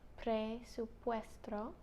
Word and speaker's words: presupuesto: Oh, quiero ver el presupuesto. Presupuesto. No, it's not S-T-R-O. Puesto. Oh. Presupuesto. Presupuesto.